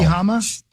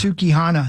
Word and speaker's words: Sukihana: Sukihama. You gonna spell it? The old four-weapon maybe entertainer. it's Sukihana. That's what it is.